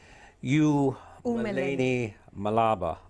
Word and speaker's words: U-Meleni Mhlaba: Let me pronounce this right. U-Meleni Mhlaba, okay?